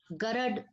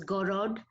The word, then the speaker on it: Garad: It is Garad silk, and Garad, the other pronunciation is Gorod, and it means white.